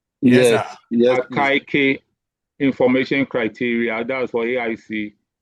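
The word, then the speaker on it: Akaike: Is that how you pronounce it? Yes. AK information criteria.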